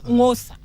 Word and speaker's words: Xhosa: Yeah, Hosa. The X is silent.